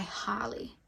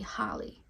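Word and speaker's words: Halle: And the third song I referenced was Angel by Harley. And that's spelled H-A-L-L-E, Harley.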